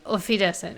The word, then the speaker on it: Auf Wiedersehen: Auf Wiedersehen.